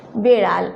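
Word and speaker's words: বেড়াল: और जब बेड़ाल बोलेंगे ना तो ये ड पे शुन्ना ड का उच्चारण होगा, साउंड होगा, ठीक है। बेड़ाल ऐसे।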